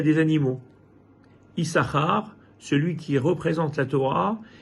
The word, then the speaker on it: Issachar: Issachar s'écrit en réalité Issachar. Il y a deux chines. On n'en prononce qu'un, mais il y en a deux.